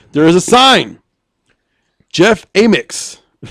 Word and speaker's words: Amyx: Jeff Amix. It's funny that rhymes with anus. What's funny is AMYX is his last name, Amix. He's the proprietor of Amex Hardware in Washburn, Tennessee.